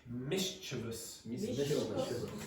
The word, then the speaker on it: mischievous: And the pronunciation is mischievous.